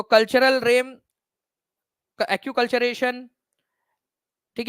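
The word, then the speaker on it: acculturation: तो कल्चरल RAM, acute कल्चरेशन, ठीक है, एनकल्चरेशन क्या कहा जाता है, तो एक्कल्चरेशन या एक्यूकल्चरेशन इसको बोलते हैं आप लोग, एक्यूकल्चरेशन इसका करेक्ट प्रोनाउंसिएशन है, ठीक है, पर संस्कृतिकरण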